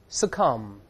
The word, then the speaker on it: succumb: 所以读一下这个词 succumb 后面还是加介词 to 屈服于、服从于或甘心忍受。